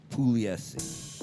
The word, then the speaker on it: Pugliese: Actually, in Italian though, the G is silent, so it'd be Pugliese.